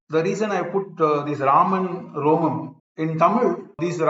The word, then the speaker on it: Raman: so we say but typically people don't pronounce that e so simply we say Raman as I said you